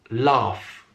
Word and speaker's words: laugh: pronouncing it correctly because it's just one syllable with 3 sounds, that l, a, f. But why then do so many non-native speakers really struggle with this word? I've heard it pronounced in 100 different ways. And the reason is, I'm answering my own question, is that the spelling, as you can see, is very strange.